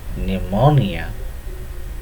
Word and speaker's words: pneumonia: Then the disease pneumonia, though the term begins with P, but it is pronounced as pneumonia.